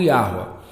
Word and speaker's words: Yahuá: A pronúncia, eu já expliquei que Yod, Re é Yah, o Vav vira um som do U, Yahu, outro Re, A, Yahuá.